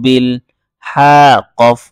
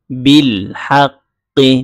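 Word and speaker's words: بالحق: বা লামজের বিল, ওয়াতা ওয়া সও বিল। হা কফ জবর হাক, কফ জের কি, হাক্কি, বিল হাক্কি। মূল উচ্চারণ হচ্ছে বিল হাক্কি, কিন্তু ওয়াকফ করার ধারা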